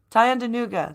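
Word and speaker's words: Tyendinaga: Police move in on blockade in Tyandaga, I believe is how it's pronounced. Is it Tyandanuga, that's how it's pronounced.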